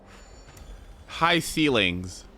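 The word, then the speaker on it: Hysilens: Hycelens? That's how you say it? Hycelens? Oh dear God. High ceilings. Great. High ceilings. Okay, we're saying high ceilings. So, okay, that's correct.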